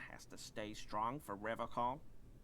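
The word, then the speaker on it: Revachol: But someone has to stay strong for Revocol. Revocol? He pronounces Revocol with a hard K, unlike other people.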